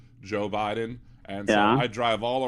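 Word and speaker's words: Jeaux Biden: Joe Biden but it's spelled like the New Orleans way instead of J OE it's j e a x Joe Biden and so I drive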